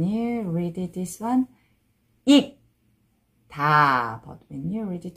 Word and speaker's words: 익다: And when you read it, this one, 익, 다.